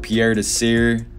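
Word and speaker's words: Pierre Desir: right now the jets though i'm going with pierre to sear that's how you say it he's leading the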